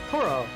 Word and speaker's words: Toraoh: was enough so i am saying it right toro just kind of gotta emphasize the a little bit more maybe blast it how